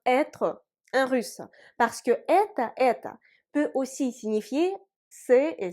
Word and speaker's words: это: Et dans les formes этот, это, эти, l'accent tonique frappe la voyelle E. Et sans accent tonique, la voyelle O se prononce A. Ce qui nous donne это.